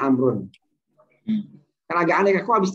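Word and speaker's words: عمرو: Jadi kalau ini bacanya Umaru, kalau ini bacanya Amrun.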